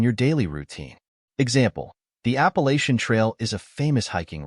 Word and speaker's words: Appalachian: l a c h i n the correct pronunciation of this word is Appalachian Appalachian means relating to the Appalachian Mountains in